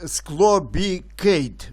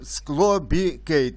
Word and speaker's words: SCLOBICADE: Ось такий гарний наш український препарат склобікейт, правильно читається. Діє як дно, як днок, але менш токсичний. Називається, читається, ще раз кажу, склобікейт.